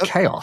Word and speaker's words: XAOC: I think it's pronounced Chaos.